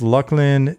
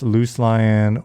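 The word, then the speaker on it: Luclin: It is pronounced Lucklin. Anybody that pronounced Loose Lion or Looselin or any of that, you better watch out.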